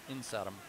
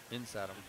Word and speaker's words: Nistum: And Pete, that name's pronounced Insatum. Insatum. Insatum, yeah.